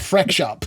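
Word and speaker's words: Freq Shop: It's FREQ, like frequency. So that's kind of where that comes from. We got a lot of Frex, but Freak Shop.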